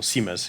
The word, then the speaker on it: CMIS: kontekście modułu wysokich prędkości czyli Siema jest albo Siemens jak się to niekiedy wymawia bo w tych nowych